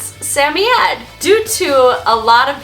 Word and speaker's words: Samoyed: So there's Sammy Ed. There's also Samoyed. Samoyed is a very common pronunciation, and it's absolutely perfectly fine to pronounce their name as Samoyed. Many of our viewers pronounce their name as that, and just depending on where in the world you're from, that may be the way that you're familiar with it.